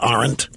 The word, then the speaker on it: Arendt: She is highly reputed, Hannah Arendt. Some people pronounce it Arendt.